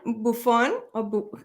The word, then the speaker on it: Buffone: Okay, so we're having today Buffone, how do you say it? Buffone?